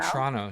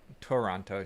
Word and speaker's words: Toronto: She's from Toronto, not Toronto. She's from Toronto. Toronto. There's If you a pronounce silent it CH.